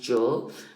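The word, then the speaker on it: Zhou: yeah eight centuries the Joe Dynasty is written um z h o u but it's pronounced Joe right and it wise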